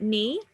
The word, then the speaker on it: knee: So sometimes that sound, it could be spelled as a KN, so that's things like night and things like knee. But sometimes it's spelled as GN for things like gnome. So we're still saying the same sound, that N sound, but we're now writing it slightly different.